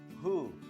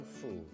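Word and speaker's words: ふ: Tapi dalam huruf hiragana pelafalan huruf hu itu tidak ada. Adanya fu minasan. Hu atau fu ya minasan ya. Tapi dibacanya dalam bahasa Jepang huruf hiragana adalah fu, bukan lagi hu.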